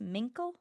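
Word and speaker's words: Mincle: Is that pronounced mink? Yes, mink.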